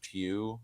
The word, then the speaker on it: Pugh: played by uh Florence Pugh right that's how you say her name yeah it's Florence pug so it's it's you